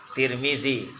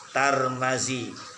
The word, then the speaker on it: Tirmidzi: oleh Imam Tirmidzi Hai Tirmidzi Tarmizi turmudzi tiga bacanya barisnya tiga juga polisinya tak